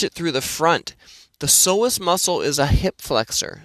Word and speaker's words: psoas: So the psoas muscle, spelt with a P, P-S-O-A-S, is a muscle that plays